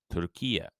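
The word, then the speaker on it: Türkiye: officially known in English by its Turkish name turkia and I apologize for the pronunciation if I'm wrong in late 2021 the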